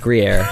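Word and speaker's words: Gruyère: I'm not even sure if I'm pronouncing that correctly. Gruyere, yes.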